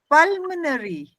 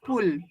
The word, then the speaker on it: pulmonary: word try cuspid well pulmonary not pool pulmonary well and aerotic well